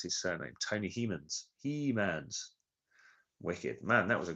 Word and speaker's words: Hemans: Yes, Hemans. Think Castle of Grace. Tony has just told me how to pronounce his surname. Tony Hemans.